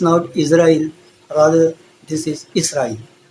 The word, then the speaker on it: اسرائیل: Request करना है कि इसको इसराइल प्रोनाउंस करें, इज़राइल न करें।